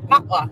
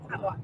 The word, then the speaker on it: patois: Patois. Don't pronounce the T. Patois.